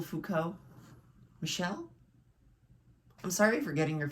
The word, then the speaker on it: Michel: It's from Michael Foucault. Michelle? I'm sorry for getting your first name wrong multiple times.